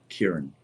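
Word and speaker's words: Ciarán: Ciar, A with a long vowel, an N. Kieran. It's an Irish. Gaelic. Yeah, Kieran.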